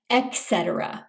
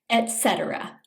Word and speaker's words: etc.: Some people mispronounce this by saying etc. with a K sound. It's a T sound instead, etc.